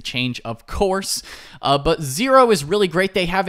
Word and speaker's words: Xero: spelled X ero pronounced zero but but it is spelled x-e-r-o so that's zero uh accounting and they